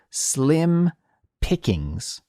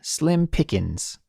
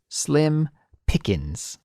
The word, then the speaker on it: slim pickings: of this expression is slim pickings slim pickings but no one actually says it like that we all say slim pickings slim pickings yeah no G no G in this expression so Cassie let's break